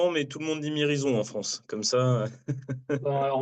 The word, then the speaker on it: Mirizøn: je te disais que les gens disent mirizon en France mais nous on préfère dire mirizon voilà comme ça donc on